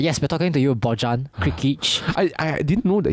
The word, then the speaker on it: Bojan: No, his name is pronounced Yes, Bojan.